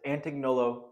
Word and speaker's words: Antignolo: I know the name looks hard to pronounce, but it's Antignolo Chiropractic.